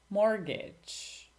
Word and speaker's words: mortgage: Silent T. Listen, mortgage, castle, buffet, witch, match. Silent S.